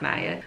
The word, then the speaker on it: Naya: Let me stop doing that. It's Naya. It's pronounced Naya.